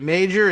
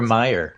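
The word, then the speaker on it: Meijer: fearing this afternoon uh peter is it major is that how he pronounces the name he's a member of congress republican and maybe he is from ohio offhand i don't recall but peter meyer meyer okay it's got a j in it and you know how foreigners pronounce those j's when they move to the united states they don't so anyway yes thank you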